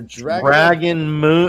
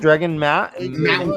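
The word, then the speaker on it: Dragonmount: Here's Tom's info for Dragon Moon. It's not just me. There's a lot of people on Dragon. How do you pronounce it? Dragon Mount. Like I want you to mount me.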